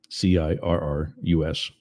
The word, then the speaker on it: Cirrus: That's not Sirius as in like the satellite company. It's Cirrus spelled with a C, Cirrus.